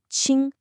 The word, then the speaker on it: 清: You get ching, which means clean.